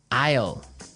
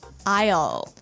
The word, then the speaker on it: aisle: spelled so strangely right we don't pronounce the S the S is silent that's true Isle so